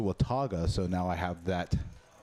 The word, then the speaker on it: Watauga: House Dallas Watauga social yesterday I pronounced it with tuga was promptly corrected that it was a Wataga so now I have